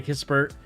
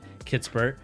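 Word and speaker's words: Kispert: you're a fan of corey kissbert um kitspert excuse me you know people keep correcting me so i just want to make sure i say it right kitsbur um you know like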